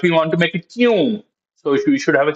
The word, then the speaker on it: क्यों: We pronounce like this kyun, but we write that this is the right spelling. So this is one of those other words which we write. The writing and the pronunciation are different.